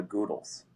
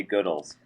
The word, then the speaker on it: Goodles: this at some point most people probably say uh goodles even though we say goodles.